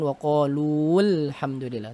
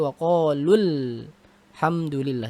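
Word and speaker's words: وَقَالَ الْحَمْدُ لِلّٰهِ: yang kedua lam sukun jadi bacanya gimana Wow qoulul hamdulillah bukan waqolu full hamdulillah tapi wakol hamdulillah jadi seolah-olah umatnya tidak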